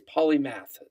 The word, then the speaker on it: Polymath: coin basically polymath we we do believe now it is polymath that is how you pronounce it so it is up